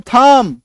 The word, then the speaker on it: thumb: THUM थम, थंब नहीं पढ़ेंगे लोग, है ना, हम लोग क्या करते हैं, थंब पढ़ते हैं, थंब, कोम्ब नहीं, थंब पढ़ना है सिर्फ, है ना।